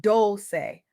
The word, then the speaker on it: Dolce: I'm your host Dolce, pronounced Dolce, like sweet softness whispered in French.